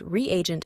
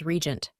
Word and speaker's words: reagent: For example, by default, I pronounce the word reagent as regent. The developer had to add a hyphen between re and agent to ensure proper pronunciation.